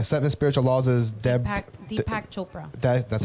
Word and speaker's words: Deepak Chopra: and then the seven spiritual laws is dead deepak chopra that that's how you pronounce it there you go defective yeah read